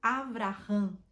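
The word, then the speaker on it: אברהם: que significa pai exaltado ele deu o nome de Abraão em hebraico Abraham que significa Pai de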